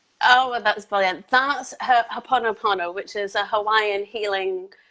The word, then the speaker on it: Ho'oponopono: He cannot pronounce it either. Oh, well, that's brilliant. That's Ho'oponopono, which is a Hawaiian healing prayer and technique. Ho'oponopono.